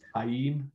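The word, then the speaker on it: Taim: surname spoke t-a-i-m and the way that he pronounced it was tain and it's like no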